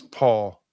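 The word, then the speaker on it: Pahl: And Wes Paul, a punter out of Oklahoma State. And that's how you pronounce his last name, even though it's P A HL. And it's not Les Paul like a guitar.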